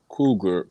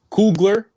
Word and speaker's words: Coogler: and um uh uh ryan cougar cool cougar um cougar helped produce it so yeah we've been kind of tongue-tied all night tonight yeah i never know how to say his name i still don't know coogler yeah coogler yeah okay i'm coogler just learned it today yes gym of the